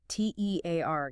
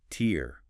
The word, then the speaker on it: tear: versus tear rhyming with hair or bear. That's the verb meaning to rip something like paper.